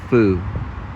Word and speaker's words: pho: Pho Noodle and Grill. That's how you pronounce it. Pho. Because I talked to a Vietnamese person and they said it's pronounced pho.